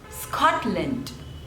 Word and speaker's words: Scotland: is on the first one Switzerland Switzerland Switzerland Scotland Scotland there are two syllables and the stress is on the first